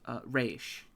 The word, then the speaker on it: Raessh: As Raish. Can you spell that for me, please?